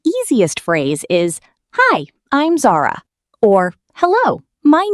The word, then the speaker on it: Zara: It's pronounced Zara.